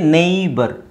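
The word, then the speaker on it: neighbour: ನೇ K silent ಆಗಿರುತ್ತೆ ಇಲ್ಲಿ ನೈಟ್ ಇದು ನೋಡಿ ನೇಬರ್ ಸೋ ಇಲ್ಲಿ ಜಿ ಎಚ್ ಸೈಲೆಂಟ್ ಆಗಿರುತ್ತೆ ನೇ ಬರ್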